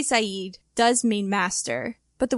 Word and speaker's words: Sayid: The reason for this is that the phonetic sounds needed to properly say Sayid in Arabic don't exist in English. So on the show, people pronounce his name incorrectly, except in flashbacks, where people are actually speaking Arabic and they're saying it properly.